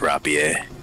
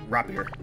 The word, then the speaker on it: rapier: It's pronounced rapier. Rapier. It's rapier. It's French, brother.